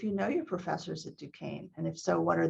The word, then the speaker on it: Duquesne: It's a French word, so Duquesne University.